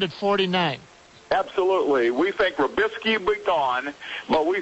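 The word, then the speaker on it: Robiskie: at would be Ohio State's Brian, is it Rabisky? Yes, sir. Okay, and Georgia's Mohamed Mascoy, is that how you pronounce it?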